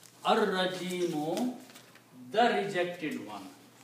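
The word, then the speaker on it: الرَّجِيمُ: Lam becomes silent, but now Ra has to be pronounced twice. So you have to pronounce Ar-Rajimu. Ar-Rajimu, the rejected one. Ar-Rajimu, the rejected one.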